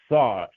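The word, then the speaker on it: שר: So it's Ser, it's Sa, it's Sa. That's how you pronounce it. Sa.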